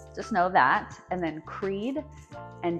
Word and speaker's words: Creede: And then Creede and Del Norte are farther out from us, but it's good to know it's Creede, not Creede, and Del Norte, not Del Norte.